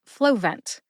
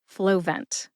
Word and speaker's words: Flovent: All right, put both syllables together and you get Flovent. Emphasize flow. See if you can hear that emphasis when I say it again. Flovent.